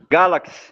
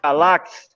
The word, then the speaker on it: Galaxe: É é entendeu então como é que se pronuncia como é que você fala o seu sobrenome Galaxy Galaxy outro chamou unga lá achei Então ninguém para